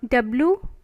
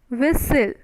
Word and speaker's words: whistle: right next is fizzle w-h-i-s-t-l-e whistle isn't it t whistle t is your silent right and pronunciation whistle but your t is silent means the pronunciation of